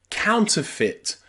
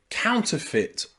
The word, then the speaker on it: counterfeit: height height number six the letters e and I can sometimes just be pronounced I in words like counterfeit counterfeit or Sovereign Sovereign these